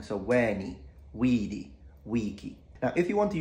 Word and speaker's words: veni vidi vici: are long we have the first vowels of each word are long so wani weedy Wiki now if you want